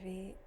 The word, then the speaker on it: Vy: Hi everyone, my name is V, just like the letter V. I know it spells VY, but in Vietnamese, that's how it's pronounced.